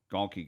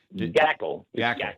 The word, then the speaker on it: Gackle: Gabe Gonke got the loss. I'm pronouncing that name wrong, but Gackle. Okay. Oh, Gackle. Yes.